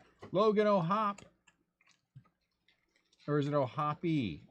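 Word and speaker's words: O'Hoppe: Or is it O'Hoppy? Is it O'Hop or O'Hoppy? I've heard it both ways. I think it's O'Hop. I think the E is silent.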